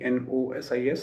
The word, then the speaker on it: gnosis: that experience right so second is uh nosis so it it's spelled like g n o s i s so nosis is is